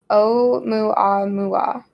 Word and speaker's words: Oumuamua: It's pronounced Oumuamua. Wait. Oumuamua.